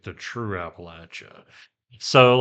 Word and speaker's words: Appalachia: A lot of people pronounce it um Appalachia, but it's latch. You know, you don't le the door, you latch the door. So Appalachia like in the Appalachian Mountains.